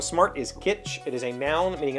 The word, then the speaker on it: kitsch: I haven't heard that in a long time, and I think I'm pronouncing it incorrectly, but I thought we used to hard pronounce the T, like kitsch.